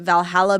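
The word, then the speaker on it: VA-11 Hall-A: I've never played before they called it Valhalla but it's spelled like very differently it's like VA 11 and then yeah it's it's like spelled differently I've never heard of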